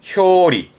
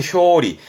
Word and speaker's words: 表裏: 표자 예 표지의 표 표이라함은 겉과 속을 의미에요 발음은 효리 효입니다 겉과 속을 말하는 효리 표리를함은 대표적인 부분으로는 뭐 표리가 있다라는 것은 사람의